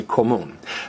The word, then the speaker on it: común: But we don't say común, we say común. This accent mark helps us put the emphasis on the right syllable.